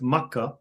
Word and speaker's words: Makkah: and you just left Makkah which is how many Muslims pronounce the word for Mecca. Makkah.